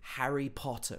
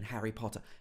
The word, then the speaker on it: Harry Potter: harry potter right so he actually pronounces both of the t's in harry potter harry potter he doesn't say harry potter he's harry potter and again he gets this very british o sound in the middle potter and then it